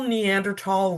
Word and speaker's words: Neanderthal: It's called Discoveries Give New Clues to Possible Neanderthal Religious Practices. And if you're wondering why I say Neanderthal instead of thal, both pronunciations are correct. It just kind of depends on your preference.